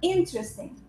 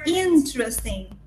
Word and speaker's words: interesting: Interesting. You don't pronounce this E here, or you don't pronounce it, silent. Interesting. You don't pronounce this E. Interesting.